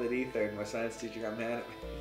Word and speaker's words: Ether: stuff you got an effort I know it's pronounced ether I will always say a third just for